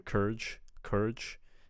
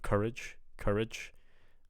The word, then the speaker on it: courage: I'm hearing courage instead of courage. So it almost sounds like I'm only just hearing one vowel, courage, instead of courage. So I'm only hearing one syllable instead of two.